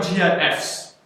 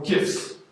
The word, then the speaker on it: GIF: Instagram GIFs or GIFs. GIFs. As I've learned today, that's how you pronounce it.